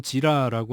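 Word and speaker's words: Jira: 하는 겁니다 이게 이제 회사에서는 지라라고 하는 발음 똑바로 해야 돼요 지라라고 하는 프로그램을 사용해서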